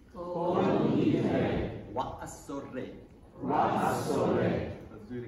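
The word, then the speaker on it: כל נדרי: try to teach you some of the Yemeni pronunciation just so you know. So, repeat after me. Kol Nidrei. Kol Nidrei.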